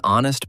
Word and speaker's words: honest: What about an honest person? Good one. Honest has a silent H too, so it is an honest person.